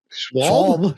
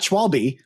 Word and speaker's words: Schwab: sure someone told us it was like Charles Schwab, right?